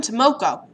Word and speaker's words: Tomoko: oh I'm Selena hi I'm Tomoko rhymes with two now I'm like I'm